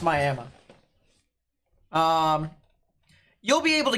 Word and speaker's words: Miami: there Northeastern oklah moment yes it's pronounced Miama um you'll be able